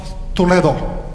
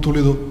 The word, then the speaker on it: Toledo: when the city of Toledo This Is How They pronounced in Spain not too little Toledo the city of